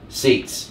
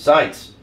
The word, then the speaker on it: Seitz: Your friend from the state up north, Seitz. Thank you. My last name is pronounced Seitz, just like on a gun.